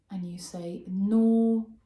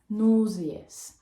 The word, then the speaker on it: nauseous: Nauseous, nauseous, and it has 2 syllables instead of 3 compared to the British one.